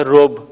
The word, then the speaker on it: ربع: ایک چوتھائی کے لیے ہمارے پاس فارسی میں جو لفظ رائج ہے وہ ہے رب، جسے اردو میں ہم ربع تلفظ کرتے ہیں لیکن فارسی میں اسے رب کہیں گے۔ اگر کوئی شخص آپ